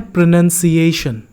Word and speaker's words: pronunciation: अगर आपको स्पेलिंग में डिफरेंस नज़र आ रहा होगा तो इसके स्पेलिंग में NOUN है, इसके स्पेलिंग में NUN है, O नहीं है। That's the reason this is प्रोनाउंस्ड एज प्रोनाउंसिएशन and this is प्रोनाउंस्ड एज प्रोनाउंस, okay?